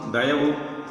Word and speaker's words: Dayavu: Let this soul life of divine Dayavu, pronounced Dayavu, meaning true compassionate love towards our fellow beings, fill in all our mind, thought and word, as well as the acts therefrom.